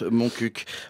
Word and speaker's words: Montcuq: Moi, voire même, je n'ai pas peur d'être en infraction de la Convention internationale de l'humour de Montcuq. Oui, en vrai, ce petit village du Lot se prononce Montcuq, en pratiquant des jeux de mots interdits.